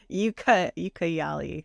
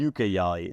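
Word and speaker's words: Ucayali: Ukayali, I think is how you say it. Ukayali. So I couldn't tell if that was a C or a G.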